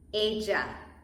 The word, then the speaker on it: ella: In English, double L sounds such as the name Ella, right? But in Spanish is ella, she. Ella, J.